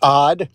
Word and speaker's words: OD: It's pronounced odd, but people can people can call me whatever the heck they want.